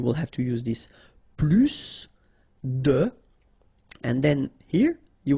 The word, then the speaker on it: plus: I will be um there is a strange thing in French language with this Plus okay because in some cases you will have to pronounce the final s and in other cases you won't so what I would